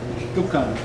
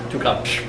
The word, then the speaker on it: Tuqan: Am I pronouncing that correctly? Yeah. So you can correct me on 129. Fadwa Tuqan? Tuqan. Tuqan.